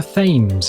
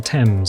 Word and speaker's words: Thames: It is not the Thames, it's the Thames, hard T-E-M-S. And the reason for that is because that's just the way British is.